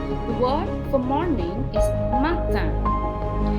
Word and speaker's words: matin: The word for morning is matin. The IN is pronounced just like in the word India or Indian and Indien, and matin.